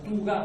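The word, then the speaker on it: Thugga: mezclados todo eso de las famosas tuga o duga, según se pronuncie en la tradición latina o en la tradición árabe posterior, ¿verdad?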